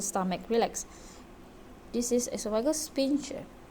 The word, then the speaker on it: sphincter: This is esophageal sphincter. S. Okay, sphincter. How to pronounce sphincter?